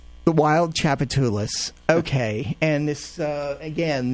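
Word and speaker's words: Wild Tchoupitoulas: Wild uh how do you pronounce it? The wild chapatulus. The wild chapatulus.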